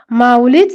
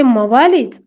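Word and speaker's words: Mawalis: अशा एका पुस्तकाचा आधार त्या शिक्षकाने घेतला होता पण माऊलीज चा उच्चार माऊलीच न करता ते मवालीज असा करीत होते.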